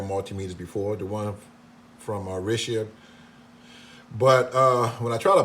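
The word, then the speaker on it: Rishabh: This multimeter, it was made in India by a company called Rishab, if I'm pronouncing it correctly. Rishab.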